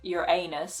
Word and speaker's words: Uranus: say you know they would say it like your anus of course and these